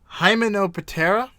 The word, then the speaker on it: Hymenoptera: Yeah, and then the order is Hymenoptera. Does that seem right to you? Hymenoptera? Yeah, that'll do. That sounds more like Egyptian, like Imhotep.